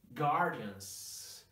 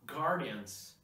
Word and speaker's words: Guardians: not correct but got guardians guardians every time you see this word and maybe some variations of this word remember not to pronounce the letter U like wah no but God guard